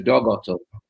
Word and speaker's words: Dag Otto: In Norwegian, you pronounce Dag Otto as Dog Otto.